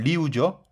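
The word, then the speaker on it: 六: 근데 육합동춘의 육은 리우죠. 네. 이얼산스 우리우. 리우죠. 육은.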